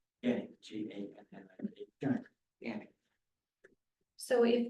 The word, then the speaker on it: Gannick: Gannick, G-A-N-N-I-C.